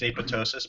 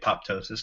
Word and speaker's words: apoptosis: now at this point I believe the proper pronunciation is apoptosis but so many people call it apoptosis now okay I'm in